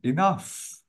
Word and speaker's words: enough: enough or enough enough we have F at the end enough let me wait if